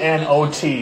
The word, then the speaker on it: knot: Come up and spell the word not. K N O T. Not. Spell the K. Say it like it's not there.